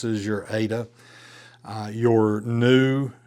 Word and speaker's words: nu: Uh, your new, you didn't pronounce it like an English v, but rather an N sound.